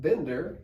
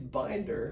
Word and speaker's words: Binder: Not Binder, it's Binder. Correct. Like the binder of a book.